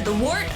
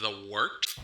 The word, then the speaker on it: Wort: Not warts, not forts, not short.